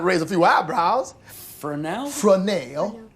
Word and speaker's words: Fresnel: Fresnel. It's spelled just like it sounds. Yeah, F''RESNEL.